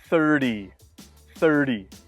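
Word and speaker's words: thirty: sound in the middle for 30 to 90 we can listen for the D sound in the middle for example 13 30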